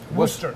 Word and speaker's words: Worcester: How do you say it? Worcester? Worcester. Well, there they say Worcester because they have Worcester. an accent, but I don't. They say Worcester, you know, something like that. Okay. Spelled like Worcestershire sauce.